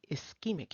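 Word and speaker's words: ischemic: If you were in the UK, you might say is because that's how they pronounce it. But we say eskeemic here.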